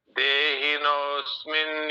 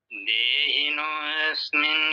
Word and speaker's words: देहिनोऽस्मिन्: देहिनोऽस्मिन् यथा देहे, अस्मिन नहीं बोलना है। देहिनोस्मिन यथा देहे, देहिनोऽस्मिन् यथा देहे। आप फिर भी अस्मिन नहीं बोल रहे हैं। तो ये साइलेंट है जी। आप इसको भूल जाइए, सीधा आगे स्मिन बोलिए, सीधा आगे।